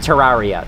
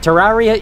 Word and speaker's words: Terraria: That's how I think about with Terraria. Terraria is the wrong way to say that game's name. But, like, you know, it is supposed to be pronounced Terraria, but I like Terraria a lot more.